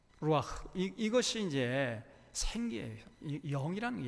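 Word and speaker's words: רוח: 발음하면 이 속에서 히읗 발음 나와요. 루아흐. 루아흐.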